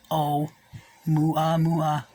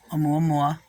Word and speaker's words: Oumuamua: They named it Oumuamua, pronounced O-Mua-Mua, Oumuamua, which is Hawaiian for, now let's clear this up, everybody, a messenger from afar arriving first.